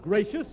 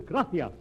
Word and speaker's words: gracias: okay mooches gracious amigo no no no not gracious that word is gracias you see in spanish the sea is pronounced th gracia you see th would you